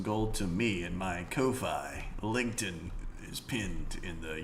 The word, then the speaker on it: Ko-fi: It is pronounced Kofi.